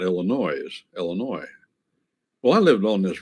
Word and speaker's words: Illinois: But you don't pronounce the S because the French, they use a lot of letters they don't pronounce.